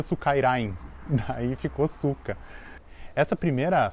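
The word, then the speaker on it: スカイライン: quadrado e Suka porque no japonês Skyline se pronuncia Sukairain, daí ficou Suka.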